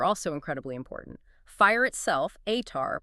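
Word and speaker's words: Ātar: Fire itself, Atar, pronounced A-H-Tar, was held as sacred.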